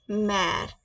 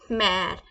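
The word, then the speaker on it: mère: बोलेंगे फ्रेंच में इट्स मेर इट्स मेर इट्स मेर आप रिसल कर पा रहे होंगे इसको हिंदी से इट्स मा मेर मा मैर it's like that मैर please try करें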